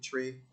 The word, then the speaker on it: Twi: I think they spell it TWI, but they pronounce it Tree.